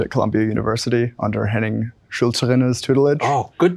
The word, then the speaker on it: Schulzrinne's: I'm a PhD student at Columbia University under Henning Schulzerinner's tutelage. Oh, good pronunciation.